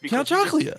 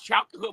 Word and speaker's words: Count Chocula: Count Chocula. Fruity Pebbles and Cocoa Pebbles you could eat the whole box in one bowl of Cocoa Pebbles. Right. He's not even saying it right. He's saying chocolate.